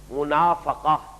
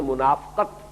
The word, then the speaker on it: منافقہ: جو ہے وہ بھی اگرچہ اردو میں ہم اس کو تلفظ عام طور پر کرتے ہیں منافقت، لیکن عربی زبان میں تو یہ گویا کہ اسی وزن کا لفظ ہے، باب مفعلہ کا،